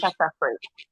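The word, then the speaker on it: Catapres: With clonidine, the other name for it is cataphrase, and Um, can you it spell it for it us? has this side effect of cataphrase. It's CATPRES, cataphrase.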